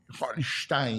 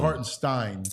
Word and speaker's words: Hartenstein: yesterday and then the what is he German hartenstein it's almost like not hardenstein uh what's that Young